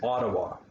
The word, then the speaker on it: Ottawa: talking about cities like ottawa that's the capital city most people would pronounce it or something like that but there's no t sound in that we use d sounds ottawa the biggest city is